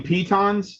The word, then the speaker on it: piton: Piton is pronounced piton.